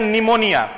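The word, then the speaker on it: pneumonia: Example समझना, जैसे एक बीमारी होती है उसको हम लोग कहते हैं निमोनिया, एक डिजीज है जिसको हम लोग कहते हैं निमोनिया। यहां पर पी साइलेंट है। ठीक है। पी का प्रोनाउंसिएशन नहीं करेंगे।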